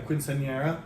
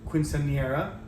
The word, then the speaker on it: quinceañera: I would say a quinceañera, but anyway, the pronunciation is given to us there.